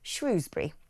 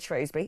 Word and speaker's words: Shrewsbury: Or is it Shrewsbury? I've always said Shrewsbury. Is Paul still there? I want to ask him. Yes, I am. It depends on which side of the river you're from.